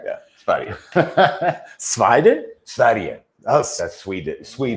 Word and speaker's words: Sverige: Yeah, Sverige.